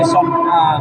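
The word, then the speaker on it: صنعاء: Al-Quran yang tertua itu ditemukannya di Son'a, di Masjid Yaman ya. Oh, Son'a namanya ya, bacanya Son'a ya.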